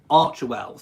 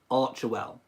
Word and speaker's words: Archewell: It is pronounced ARCHEWELL. So it's not ARCHEWELL, it's not ARCHEWELL, it's not all the other different variations that I've heard. It is actually ARCHEWELL.